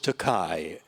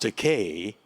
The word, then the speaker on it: Takei: had to fess up i mispronounced your name and you're now mispronouncing my name i said it's pronounced decay however i don't object to the mispronunciation because takai in japanese means expensive gene said oh